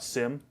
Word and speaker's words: Cim: time uh it's it's people call it Sim phonetically that's the way it is supposed to be pronounced I guess but my parents called me Kim and they named me Kim